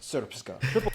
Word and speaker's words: Srpska: I know, it looks like it's pronounced Srpska. It's pronounced Srpska. Wait. Hey, they're just missing like the E, bro.